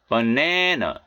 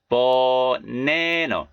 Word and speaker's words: banana: 자, 바나나가 아니고 banana, banana. 자, A가 어 소리 나죠? banana.